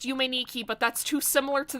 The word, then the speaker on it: Yume Nikki: I know that it's pronounced Yume Nikki, but that's too similar to the original.